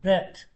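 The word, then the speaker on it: ב: but the script bet goes, now it's pronounced B, okay.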